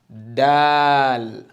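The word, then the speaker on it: دال: move to this one Dal okay the D sound Dal masha'allah and say it after me okay remember your tongue needs to have shown okay like that so the way of pronouncing is very simple the first step is that your tongue needs to be out then you press your tip on it and then you go ahead okay um then make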